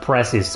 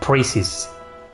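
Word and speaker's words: Precis: her name's pronunciation wrong I've always called her prees but it's preces preces priess priess that sounds bad I prefer prees priess Priestess I mean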